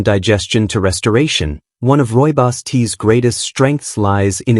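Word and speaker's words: rooibos: Roy Boss tea, pronounced Roy Boss, may not be as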